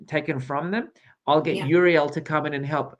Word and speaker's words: Uriel: Uriel. Uriel.